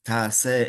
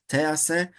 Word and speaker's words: ta'aseh: And we're going to learn that the word ta'aseh is actually very important. The nekudot, how to pronounce it as opposed to te'aseh.